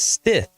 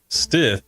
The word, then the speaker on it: Stith: stiff and Stith but it's Stith just like it's spelled and if you have plumbing problems Stith Plumbing in hbac is